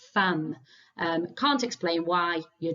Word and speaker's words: femme: it might mean wife we actually pronounce it like fam um can't explain why